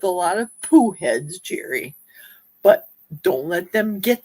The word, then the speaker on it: Geri: My genre and my niche, correct pronunciation, Jerry.